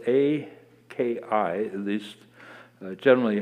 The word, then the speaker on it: aki: is the meaning of a very important word, aki, spelled A-K-I, at least generally how it's spelled, aki, and it means land.